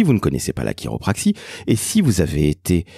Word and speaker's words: chiropraxie: chiropraxie sachez-le ça s'écrit chi ro P r a XIe ça se prononce quelque part à l'américaine chiropraxie donc ce n'est pas avec un cas donc sachez-le si vous